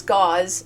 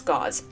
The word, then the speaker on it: Gause: He's English, which means it's gauze, just spelled with an S instead of a Z. Um so it's gauze.